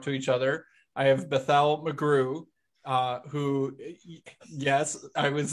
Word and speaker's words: Bethel: I have Bethel McGrew, who, yes, I was instructed that it has the Hebrew pronunciation, not the standard pronunciation.